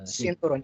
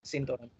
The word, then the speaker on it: sinturon: right not with the sinturon yes yes with S Yeah I Spanish C but in Tagalog It's pronounced as s sinturon sinturon yun So yun Okay